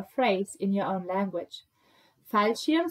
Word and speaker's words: Fallschirm: Fallschirm sounds a bit like for shimp.